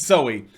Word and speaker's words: Soe: like Zoe or just Zoe yeah yeah it's pronounced so I was wrong it Oh silly it's Zoey Zoey Geschwind penske Wow what a name made